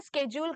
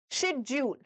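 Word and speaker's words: schedule: ये शेड्यूल नहीं है, इसको दो तरीके से आप प्रोनाउंस कर सकते हो। First one इज स्केड्यूल, स्केड्यूल, और second one इज शेड्यूल, शेड्यूल। Okay, not शेड्यूल, शेड्यूल नहीं होगा, शेड्यूल और स्केड्यूल।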